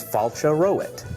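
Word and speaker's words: Fáilte romhat: good how do you say welcome welcome is Fala roit fala roit great we learned the word welcome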